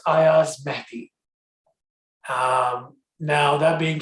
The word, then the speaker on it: Ayaz Mehdi: it um so i'll start with saying uh pronouncing my name correctly for everyone um it's ayaz matthew um now that being said um where do